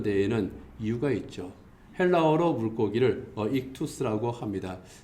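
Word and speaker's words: ἰχθύς: 모아가지고 조합을 시키면은 저렇게 익투스라고 하는 물고기라고 하는 뜻의 헬라어가 되는 겁니다. 이제 익투스 또는 이제 보다 정확하게 이제 발음하면은 익시스 이제 그렇게 되는데요.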